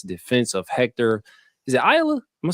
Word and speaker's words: Ayala: Is it Ayala? Am I saying it right? Ayala.